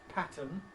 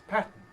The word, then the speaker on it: pattern: I noticed her earlier using the word which she pronounced pattern which I would normally say as pattern for what it's worth.